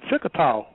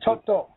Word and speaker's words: Choctaw: Found out she was a Chickataw, if I'm pronouncing the word right. Right, Choctaw.